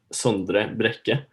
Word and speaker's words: Sondre Brekke: And I call you Sondre Brekke with my American accent, but if I'm correct, it's Sondre Brekke, or is it?